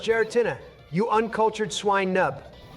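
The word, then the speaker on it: Giratina: When does the guerotina appear? It's actually pronounced geratina.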